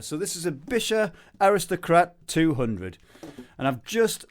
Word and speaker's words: Buescher: It says Buescher Aristocrat 200, but for many years, probably like you out there, I was pronouncing it Buescher because of the U in the spelling, but it's not.